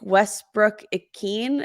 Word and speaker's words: Westbrook-Ikhine: Like Nick Westbrook-Ikhine, is that how you Yep.